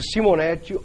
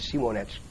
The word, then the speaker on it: Simonetti: TV Prevê o Simonetti ou Simonetti. Quem preferir pode escutar aí a qualquer forma da fonética, ou traduzindo para o português ou de acordo com a pronúncia em inglês.